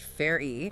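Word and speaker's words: Farrey: If we go back to that congressional testimony from Tom Ferry, F A double R E Y, pronounced Fairy.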